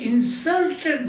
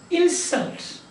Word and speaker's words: insult: his word insert he insulted me but insult is now i will not pardon your insult you understand that insult